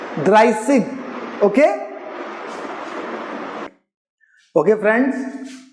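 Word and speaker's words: dreißig: इट is known to बी as asset and इट is pronounced as a sharp sound of double S in German language S. सो इट इज ड्राइसिग. ड्राइसिग.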